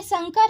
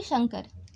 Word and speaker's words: संकर: ठीक दोस्तों, ये संकर है ना कि शंकर।